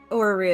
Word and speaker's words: orrery: Orrery is the correct word. Or the Yeah. way you spell it.